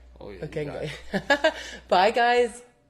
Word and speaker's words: Okenge: And Okenge. Did I say it right? Oh, yeah. Okenge.